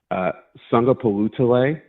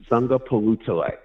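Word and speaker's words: Sagapolutele: So after that first syllable, it's phonetic. Palutale. Sunga Palutale.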